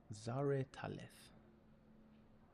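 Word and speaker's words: Zareh'taleth: um that the pyramid itself is called Zar Talith subscribe.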